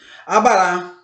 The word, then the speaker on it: abará: Abará. E outras, tem umas que não são acentuadas, mas a sílaba tônica não deixa de ser na última sílaba, tá ok?